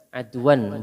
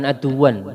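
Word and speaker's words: عَدْوًا: Adwan bacanya adwan Pak, jangan aduan. Kalau aduan maknanya musuh, bacanya adwan.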